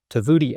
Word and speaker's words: Tovuti: Today's guest is Matthew Baker, the new CEO of Tvoodi LMS. Am I pronouncing that correctly?